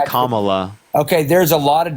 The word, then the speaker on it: Kamala: come Kamala Harris okay kamla Kam give me a break really you could just say comma okay there's a lot